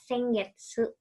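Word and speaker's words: 先月: Ini bukan sen. Tulisannya sennya sama seperti minggu yang ini ya, sengetsu. Ini bacanya rai ya. Harusnya sengetsu. Ya. Ininya hiragananya salah. Harusnya getsunya getsu. Kan kalian udah belajar huruf G dan su ya.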